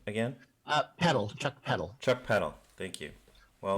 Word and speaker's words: Chuck Peddle: Chuck Peddle.